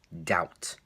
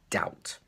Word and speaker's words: doubt: and you think it's dal but doubt but actually the B is silent doubt doubt is the correct pronunciation